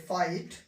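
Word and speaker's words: fight: तो जी एच का उच्चारण नहीं करेंगे, इसे पढ़ेंगे लाइट, इसको पढ़ेंगे फाइट, ये थॉट, डॉटर।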